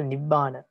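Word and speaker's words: nibbāna: And in thagana, first and second syllables are heavy and the last one is light. For example, nibbana. Nibbana.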